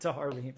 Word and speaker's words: Tahar Rahim: the movie, if I'm pronouncing this right, is Tahar Rahim. I'm sure you are pronouncing it right. That does sound correct, Tahar Rahim.